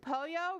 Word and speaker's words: pollo: help with the words Poyo rhymes with Froyo it's a chicken a